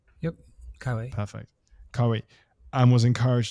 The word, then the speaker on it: Keiwei: Have I pronounced that right? Yep, Keiwei.